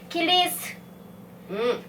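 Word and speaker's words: 起立: ขา คำ ว่า คิสึ เขา มี วิธี การ ออก เสียง ให้ เป็น ธรรมชาติ แบบ ญี่ปุ่น เขา ออก เสียง ไง คะ คำ ว่า คิริ ซึ นะ คะ ถ้า พูด เร็ว ๆ นะ คะ เสียง ซึ ตัว สุด ท้าย ก็ คือ จะ หาย ไป จะ เป็น คิริ อื คิริ นะ คะ อ่ะ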